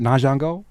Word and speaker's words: Ahngeaux: But first and foremost, did I pronounce the new name right? Nango.